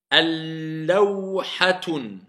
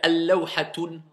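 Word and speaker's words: اللوحة: Al-baytu, at-tinu, ad-daru, ar-ruhu, al-kitabu, al-lawhatun. Al-lawhatu, afwan. Est-ce que j'ai le droit de dire al-lawhatun? C'est faux. Si je dis un, c'est nakira, indéfini. Donc soit je dis lawhatun, soit al-lawhatu.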